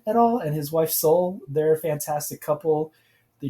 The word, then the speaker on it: Seol: Mike and Soul Comics. Her name is spelled Seol.